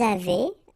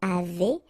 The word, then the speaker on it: avez: the two, nous avons, vous avez, Z at the end will produce this E sound, avez, little link between the